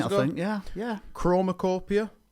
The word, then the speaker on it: CHROMAKOPIA: CHROMAKOPIA, which I believe is the way you pronounce it. I think you got it spot on there, mate.